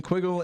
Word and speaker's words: Quiggle: I've got Aaron Quiggle and Troy Oldham. Did I say those right? Absolutely. I've only ever written them down, so I know I've met you guys before.